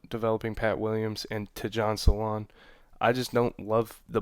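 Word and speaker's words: Salaün: I think it's Salon. I don't know how to say the first name completely, but I believe it's Salon.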